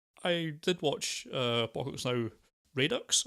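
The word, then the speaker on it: Redux: I did watch Apocalypse Now Radox, I think you say it should be pronounced. Thank you. Radox, right? Yeah, Radox, yes, named it's after a bubble bath.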